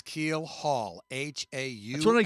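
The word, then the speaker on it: keelhaul: One of them be keelhold.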